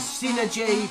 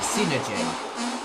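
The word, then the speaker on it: Psynergy: what they're doing now a lot of people may pronounce this as synergy or psy energy and i will actually pronounce it synergy um or sometimes i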